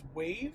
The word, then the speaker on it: Wayve: It's Wayve. I think they're pronounced Wayve, and Tesla with the whole end-to-end neural network.